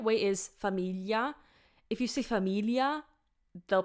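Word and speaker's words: famiglia: just an L but be careful cuz in Italian it's GL so it's Familia Familia so if you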